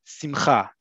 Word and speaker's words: simcha: I talked about emphasis on syllables before. In modern Hebrew, simcha. Simcha is both happiness as well as a happy occasion.